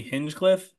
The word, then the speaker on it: Hinchcliffe: The whole, I keep saying his name wrong, Tony Hinchcliffe.